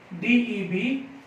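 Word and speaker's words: debt: ये देखना है बेटा क्या है डेट और बाद से कहते हैं बेटा बी साइलेंट है तो आप इसे लेंगे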